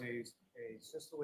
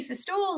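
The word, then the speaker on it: asystole: So Lolly learned how to say it correctly, because when he was talking to one of the EMTs, remember he said, "Hey, systole," and it was really fucking funny.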